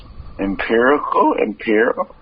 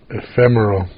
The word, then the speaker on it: ephemeral: up, finding it too superficial, albeit exciting, and empirical. Say it again. Empirical to last. Empirical. Spell it. EPHEM. Ephemeral.